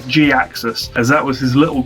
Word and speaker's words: Gaxis: You may have heard him pronounced Jaxus or even just Jaxus said really quickly. I stick with the traditional Ferland pronunciation of Gaxus as that was his